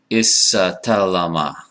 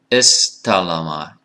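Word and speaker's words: استلم: So you don't want to, for example, right, be pronouncing this word like isatalama, ishataraka. Right? No, that's too many consonants. It's istalama, ishtaraka, iftakhara.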